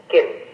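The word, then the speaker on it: Khin: Xiao Kun Fan. Kin. Oh, bacanya Kun ya? Xiao Kin Fan. Xiao Kin Fan, betul.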